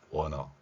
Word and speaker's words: want to: 그러면 want to가 아니라 원우 발음이 되겠고 우가 약한 발음이 되면서 원어 이렇게 되는 거죠.